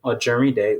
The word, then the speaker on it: Ojerinde: on betterhelp and type in my name it's spelled and then my last name or jeremy day which is o j e-r-i-n-d-e um and you